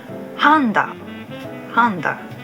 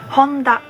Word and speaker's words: Honda: International circuits in Japan I hear some of the English speakers pronounce it Honda Japanese speakers pronounce them Honda comes from their